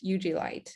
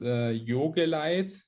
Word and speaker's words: Jogeleit: i'm doing good um i hope i pronounced your name correct that's you uv light ugly light yeah it's yoga light you can like not